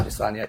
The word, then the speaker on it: Adesanya: I thought that Gastelum Adesanya, is that how you say his name? I've always called Israel Adesanya. Yeah. Adesanya, yeah.